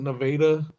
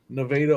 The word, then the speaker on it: Nevada: to it's called it's spelled Nevada but they pronounce it Nevada Nevada Ohio Bullpen auction man that's fun I you